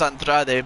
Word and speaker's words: Andrade: Oh, I thought it was Andrade, but, you know, again, I guess I forget